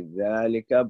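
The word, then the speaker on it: ذٰلِكَ: alif, and similarly with dhalika, we pronounce it alif. So it is actually dhalika, but it's written without the alif.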